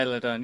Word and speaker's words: Isla Dawn: Alba Fire and Isla Dawn, or I forgot. I don't know how to say it. Yeah, Isla Dawn.